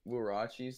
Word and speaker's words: Huarache: Yeah, you guys know what the fucking Nike Air Huaraches look like? The Huaraches? Huaraches? No, they're it's pronounced Huarache.